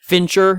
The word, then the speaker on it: Fincher: you pronounced his name sure Fincher yeah like a finch but then er um Fincher I don't